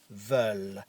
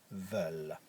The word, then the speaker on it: veulent: And il or elles veulent. And you will notice I don't pronounce the ENT at the end. Ils veulent.